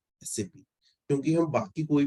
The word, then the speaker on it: SAP: अब आप लोग कई बार प्रोनाउंस करते होगे सैप, राइट, बट सैप उसका सही प्रोनाउंसिएशन नहीं है, क्योंकि उसका एक फुल फॉर्म है which is system application and product in data processing. Sorry. ठीक है। सैप उसका है, क्या है, फुल फॉर्म। तो उसका सही प्रोनाउंसिएशन क्या होगा, एस ए पी।